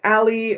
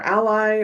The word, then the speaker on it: a11y: Generally, this is pronounced alley or ally or just accessibility.